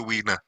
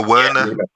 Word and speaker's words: Werner: Wiener, he's a Wiener. Did I say Wiener? Yeah, you did. How do you pronounce it? That's his name. That's his name, Wiener. No, Werner.